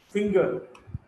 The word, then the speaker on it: finger: In case of whole words, finger, G is pronounced.